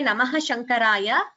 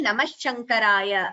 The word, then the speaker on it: Namaha Shankaraya: It is okay to say Namaha Shankaraya or combining the Sandhi Namah Shankaraya.